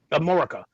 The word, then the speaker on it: Amorica: How do you pronounce it? Amorica.